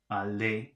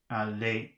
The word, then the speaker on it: allez: So I guess that's allez. So they've got the word allez, and they've underlined the E and the Z at the end. So how do you pronounce that? Allez, not allez.